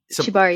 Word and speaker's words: Shibari: Like, oh yes, yeah, because like I've looked at, how do you pronounce Shibari? Shibari, yeah.